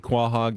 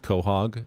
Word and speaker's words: quahog: Even though Rosie pronounces it quahog and White Men Can't Jump, it's actually pronounced quahog. It's a quahog clam.